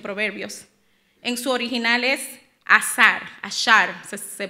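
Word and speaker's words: עשר: En su original es ashar se pronuncia.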